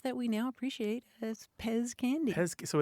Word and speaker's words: Pez: last letter Z and in German that's pronounced pets mhm but in English we pronounce it Pez Pez I see it